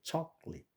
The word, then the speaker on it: chocolate: 몇 개인지 아십니까?이 이 영어에서는이 자음의 양쪽에 모음이 있으면은 똑같은 모음이 있으면은 자음 양쪽에 똑같은 모음이 있으면은 한 모음은 발음을 안 합니다. 그래서 여기서는이 오가 발음이 안 돼요. 여기 초ate 두음절이죠. chocolate sen graduate 이게 동사일적